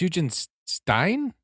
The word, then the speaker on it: Hugenstein: Wait, it's Huge and Stein. Mhm. Like like Frankenstein. Like Dr. Frankenstein.